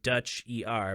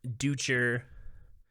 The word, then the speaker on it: Dutcher: name either you know it's spelled like dutch er but i've had you know anything with a d you know devin derrick duncan uh duecher uh you know like like